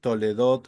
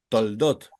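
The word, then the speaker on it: תולדות: oer toledot Adam este este según los diccionarios tiene que sonar segú regla gramatical tiene que sonar sí la podemos hacer una pronunciación cortita toledot toot si toledot cfer toledot Adam tiene que sonar pero pero pero pero ustedes van a escuchar que hay algunos judíos que no la pronuncian Entonces ellos dicen toldot como por ejemplo la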